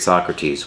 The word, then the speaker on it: Socrates: was by the great Socrates which also happens to be the name of my cat who is a big jerk but his name is pronounced so crates and if you know